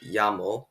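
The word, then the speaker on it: llamo: that happens in spanish when two l's are next to each other in a spanish word it's pronounced ya to ask someone what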